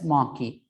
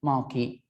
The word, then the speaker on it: marquee: attribute called marquee right it has to be pronounced as maki a mayor q uwe maki so then give the